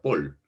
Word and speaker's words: Paul: el inglés por ejemplo es paul no se escribe paul se pronuncia pool no se escribe paul